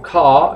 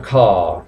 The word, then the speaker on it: car: Car o car, el británico, acordaos que no suele pronunciar la R al final de palabra, por lo tanto sonaría car, pero el americano sí lo dice car.